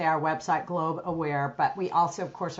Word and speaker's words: Globe Aware: The main thing is that one handle, looking up Globe Aware, and a lot of people make it global, but it's Globe, one syllable, aware, and we're everywhere that people look.